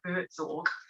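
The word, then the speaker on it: Buurtzorg: called pronouncing actually b-u-u-r-t-z-o-r-g like boots org um but it's um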